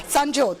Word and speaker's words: Sanjyot: Yeah, Sanjyot. Yes. Sanjyot? Yeah. like the sun.